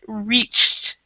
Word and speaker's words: reached: a ch right there we would actually pronounce this as a T so we wouldn't have use the E and we wouldn't do the D it's a reached so in India has